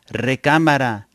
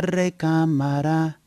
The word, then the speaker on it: recámara: But when a word ends with a vowel, we usually put the accent on the second to the last syllable, recámara.